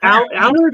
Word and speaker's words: Allard: Allard. Is that how I pronounce it? Allard? Allard, yes.